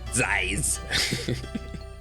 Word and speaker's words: Zeiss: You have to pronounce it like that. Zeiss.